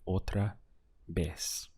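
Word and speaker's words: otra vez: also the pronunciation on the V once again sounds like a B in Spanish so we have otra B how would you say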